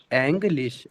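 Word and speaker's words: Englisch: एर स्पष्ट अंग इंग्लिश एंग्लिश एंग्लिश एंग्लिश स्पानिश स्पानिश जैसे आपको लास्ट में ना वाली साउंड देनी है एंग्लिश हम इंग्लिश में नहीं देते ना इंग्लिश इंग्लिश में ऐसे दे इंग्लिश इसमें देनी है इंग्लिश हैंड स्पानिश स्पानिश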